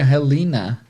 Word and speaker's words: Helena: Na verdade, em inglês seria Helena. Helena. Something like this, porque o H é sempre com som de R, mas vamos continuar Helena aqui.